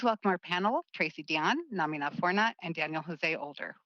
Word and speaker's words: Namina: I believe the pronunciation is Namina, and if I get that wrong, please let me know when we get in there. Namina Forna.